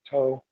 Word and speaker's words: Sattva: You have To on the left, which is, it looks like Twa, but all the Tibetans pronounce it as To, as green.